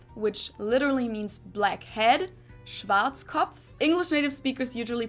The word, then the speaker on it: Schwarzkopf: over the world pretty much in German we pronounce it Schwarzkopf which literally means blackhead Schwarzkopf English native speakers usually pronounce it Schwarzkopf or Schwarzkopf or something along those lines sometimes I don't